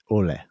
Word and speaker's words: Olle: Did I get that right? Olle. You really nailed the pronunciation of his name the first time you said it. Really went deep with the Swedish pronunciation.